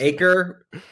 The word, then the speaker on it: Acree: says it wrong but it's just acre acre with another E on it like that's a great real estate name actually a Cree of course we should